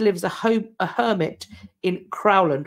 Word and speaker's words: Crowland: He spent 2 years at a monastery, left to live as a hermit in Crowland, which I think is also potentially pronounced Croyland, a town in Lincolnshire, England, today.